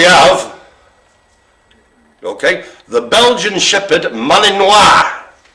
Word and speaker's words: Malinois: okay the belgian shepherd malinois i presume it's pronounced not how it's spelled so it's sort of molly noise if you will at